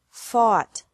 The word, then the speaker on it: fought: This can be spelled O-U-G-H-T or A-U-G-H-T, but the pronunciation is the same. Bring, brought, brought. Buy, bought, bought. Catch, caught, caught. Fight, fought, fought. Seek, sought, sought. Teach, taught, taught. Think, thought, thought. Remember that the G is silent in these verbs.